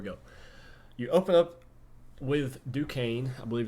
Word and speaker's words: Duquesne: 2022 here we go you open up with Duquesne I believe it's how you pronounce it uh so if you're a decaying